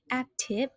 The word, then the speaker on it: active: The pronunciation, active. So be careful with the K sound here, and then you have to put the stress on the first one.